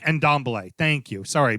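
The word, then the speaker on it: Dembélé: I thought they had picked up Rodri, not Rodri, Dembele, right? The holding, the holding, Dembele, yeah. Dembele. And I thought, okay, you know what? This is it. This is the year. No, and Dombele. And Dembele.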